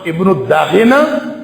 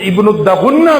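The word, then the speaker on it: ابن الدغنة: وہ جو سردار تھا جس کا نام ابن الداغنہ یا اس کا تلفظ ابن الدغنہ بھی کہا جاتا ہے، بہرحال اس نے جو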